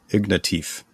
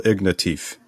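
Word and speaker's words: Ignatieff: consolation by Michael and let's see if I pronounce this right ignative Michael ignatif that's right I looked it up are you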